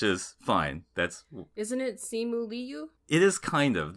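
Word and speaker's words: Simu Liu: we we've been saying simulu which is fine that's isn't it simuli you it is kind of that i and the u kind of converge into one syllable that's actually sort of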